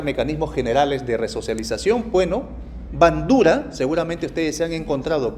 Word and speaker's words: Bandura: Bueno, Bandura, seguramente ustedes se han encontrado con Bandura, tal como se escribe bandera, pero Bandura, la teoría del aprendizaje social.